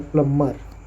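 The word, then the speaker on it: plumber: इसका सही उच्चारण प्लम्बर होता है, बी को साइलेंट रखा जाता है, प्लम्बर, मर।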